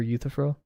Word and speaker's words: Euthyphro: He also encouraged me to read Plato's Dialogues, which I can only remember Euthyphro. That's how you pronounce it.